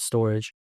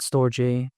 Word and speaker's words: Storj: It's spelled Storj, like the letter J, but some people call it Storage. Some people call it Storj, tomato, whatever the case may be.